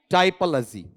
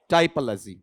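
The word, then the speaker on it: typology: टिपो नहीं, टाइपोलॉजी। इसका उच्चारण टिपो है या टाइपो? टाइपोलॉजी।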